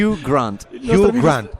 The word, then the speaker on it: Hugh Grant: Hugh Grant. Senti, ecco, ridillo tu. Io all'inizio l'ho detto con l'accento americano, no, mi sono corretto. Adesso corretto, dillo bene. Hugh Grant, ecco, come il Glenn Grant, così si chiama.